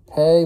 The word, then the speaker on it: Pe: the hebrew hebrew alphabet today's letter is pay which is spelled p e and it's in psalm